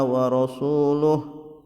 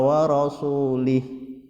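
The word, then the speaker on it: وَرَسُولُهُ: dari Um Minal musyrikin a warosuluh warosuluh tetapi kadang orang salah membacanya dengan and now loh Amrin Um Minal musyrikin a warosulih yang betul Rasulullah tapi dibaca Hai Sesungguhnya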